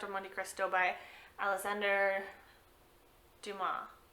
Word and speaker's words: Dumas: Monte Cristo by Alexander Dumas. I don't think you pronounce the S at the end.